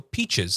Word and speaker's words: peaches: So peaches. Say peaches. Peaches. Okay. Peaches. Yellow. The way it should be said, uh, peach, peaches, chz, chz, as if there's a ch h e zed.